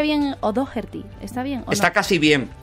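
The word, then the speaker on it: O'Dogherty: O sea, que se pronuncia O'Dougherty. O'Dougherty.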